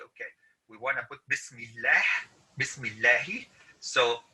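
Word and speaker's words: بسم الله: we'll have shadda and the reason this is pronounced as bismillah is because it has a kasra okay but if you're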